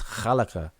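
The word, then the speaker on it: خلق: When Arabic speakers say those words, like if I ask you to pronounce the word for create, the Arabic word for create, you're going to pronounce it different than an Arabic speaker pronounces it, and that's just what it is. It's khalaka, but most people say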